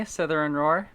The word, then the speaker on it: Slytherin Roar: Hi, it's me, Slytherin Roar. Yes, that's how it's pronounced.